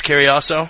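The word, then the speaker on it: Cariaso: ] I I I swear to God I mispronounce his name Koso it's Koso Koso exactly Koso John Mora defeating Chris Koso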